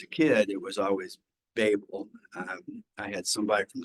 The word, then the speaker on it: Babel: Tower of Babel or Babel as the professors pronounce it when you get in and actually research it and you listen to people who are talking about the Tower of Babel it is Babel not Babel but as a kid it